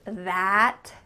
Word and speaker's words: that: But what's happening to the final T in that word? That. Do you hear it at all? That has. This is called a stopped T. So instead of making that T sound with a puff of air, your tongue's going to stop at the top of your mouth.